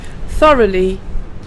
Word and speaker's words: thoroughly: Thoroughly means accurately completed, and it's pronounced like this: th-r-u-h-Lee. The th sound is a slight strong sound of the TH, with the tongue going between the teeth and blowing a little bit of air with the sound together.